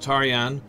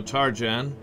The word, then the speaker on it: Tarjan: he's playing james targen i always liked tarjan i it may be pronounced taryan but uh he's an american so tarjan and he became a